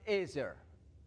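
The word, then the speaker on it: עזר: I guess if you can see it, you may recall the word that is used in Hebrew is pronounced ezer.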